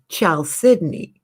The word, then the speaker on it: chalcedony: told me years laters child sydney i'll say oh it doesn't even look like it sounds but that's the way the gemologists pronounce it so but it's a